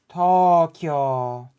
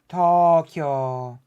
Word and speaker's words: Tokyo: same with words like Tokyo okay you make the O longer Tokyo not Tokyo Tokyo Judo